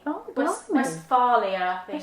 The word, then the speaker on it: Westphalia: west and then Phalia. Oh, West, blimey. Westphalia, I think. Westphalia.